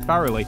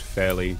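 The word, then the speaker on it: Fairlie: by radiation scientist Ian Farrelly um I have since learned that it is pronounced fairly not thoroughly puts us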